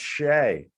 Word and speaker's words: Shea: it says and they're like nope it's pronounced shay well you did the pronunciation on the back